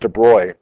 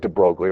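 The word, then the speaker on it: de Broglie: the de brogly hypothesis it's pronounced de broy but it looks like it looks like de brogly right call whatever you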